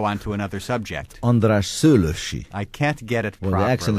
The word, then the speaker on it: Szőllősy: András Szőlősy. I can't get it properly. Well, the accent is the first syllable.